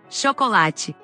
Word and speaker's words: chocolate: En cambio, la CH en portugués tiene el sonido de la SH del inglés que no existe en español. Chocolate. Chocolate. Chimpancé.